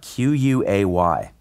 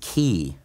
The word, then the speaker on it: quay: from audible because of me letting a narrator mispronounce a word so many times in a book that word was uh q-u-a-y u a wife koi yes so he said